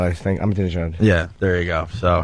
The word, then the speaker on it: Ahmadinejad: The Iranian president there that most people can't pronounce his name. Ahmadinejad, I think. Ahmadinejad.